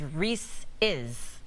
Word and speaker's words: Reese's: So they're saying the correct pronunciation is Reese's.